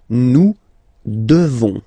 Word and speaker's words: devons: Nous devons, okay? Classic ending, ONS for nous, okay? You just pronounce this on, ON, this nasal, okay? And then the S, final S is not pronounced.